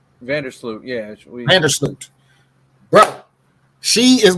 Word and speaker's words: Vandersloot: I can't pronounce this lady's last. She's on Chicago. Her name is Courtney Vandersloot. Vandersloot, yeah.